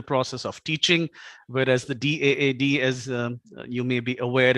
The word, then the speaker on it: DAAD: called it is actually it's pronounced as d-aad every letter individually but I think in India at least everyone calls our organization dad so it was a